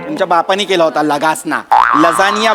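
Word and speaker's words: lasagna: पहिल्या दिवशी आपण हा खाऊया, लगासना खाऊया. लगासना. तुमच्या बापानी केला होता लगासना. लजानिया बोलता येत नाही, स्पेलिंग वाचून लगासना बोलता तुम्ही.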